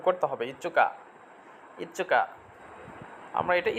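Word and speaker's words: いつか: 5 তারিখের জন্য দেখেন তচুটা আবার বড় চলে আসছে, তাহলে এটা আবার তচুটা উচ্চারণ করতে হবে ইচ্চুকা, ইচ্চুকা। আমরা এটা ইস্কাও বলতে পারবো, কিন্তু এখন বলার দরকার নেই, আগে আমরা সঠিক স্পেলিংটা শিখি।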